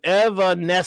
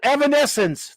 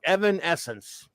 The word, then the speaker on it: Evanescence: boy thing all right Evanescence thank you Evanescence Alejandro's Evanescence that I get everyone's trying to help me pronounce it but Alejandro knocked it out of the park Evan Essence I'm a bear of